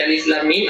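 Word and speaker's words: الم: Alifnya ini 2 harakat, lamnya 6 harakat. Antara lam dan mim ada ditahan 2 harakat dan mim ini 6 harakat.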